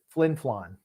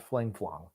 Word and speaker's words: Flin Flon: I thought it was Flin Flon. Not Fling Flong.